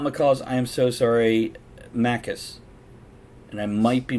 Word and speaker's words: macaque: able pronounce it so macaques is it really pronounced macaques macaque macaque uses tools yeah that's how that's pronounced right there right where